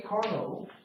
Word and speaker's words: Carnot: but in theory the carnot cycle would allow you to get your maximum efficiency it was named for the french physicist sadie carnot which is why we don't pronounce the t okay the problem we're